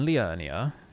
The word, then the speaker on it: Liurnia: So here we are in Liurnia. Got to say it like that because they're all Welsh here.